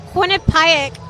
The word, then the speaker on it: Quinnipiac: A Quinnipiac, I know I'm pronouncing that right.